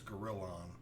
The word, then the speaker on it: Girallon: It's not a gorilla. It's Gorillon.